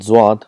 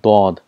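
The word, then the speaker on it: ض: For example, for zwad, in Urdu it's called zwad, but in Arabic it's called dod. There's a lot of difference between zwad and dod.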